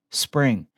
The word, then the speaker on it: Xspring: That's why today we are announcing Xspring, pronounced spring.